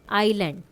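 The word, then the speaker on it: island: है फोरन जी साइलेंट है आइलैंड एस साइलेंट है रैक डब्ल्यू साइलेंट है अह कैंपेन जी साइलेंट है फ़स्टन फ़सन तो टी साइलेंट है।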